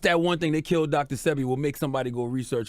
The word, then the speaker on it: Sebi: one thing, they killed Dr.Sebi, will make somebody go research who Dr.Sebi is. 100%. DrSebi. I thought it was Sebi. DrSebi. See, my bad, I said it wrong.